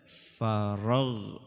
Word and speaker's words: فرغت: Maka kalau dibacanya fa'idza faraghta apa? Faraghta itu keliru. Yang betul faragh ya.